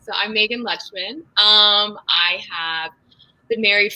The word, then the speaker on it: Lutchman: yourself to that so how you say it is luxman so i'm megan lechman um i have been